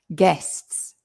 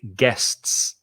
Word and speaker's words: guests: getting them all uh guests guests be careful of the pronunciation again there's two vowels in there but it's it's it's a it's an s sound the u is silent so just think guests no you just guests